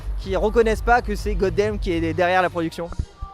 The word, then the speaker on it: Godamn: On le prononce comme ça? C'est juste, Goddamn, ouais.